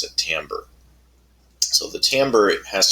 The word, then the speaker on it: timbre: sound but we pronounce it in English we pronounce it Tambor so the Tambor it has to do with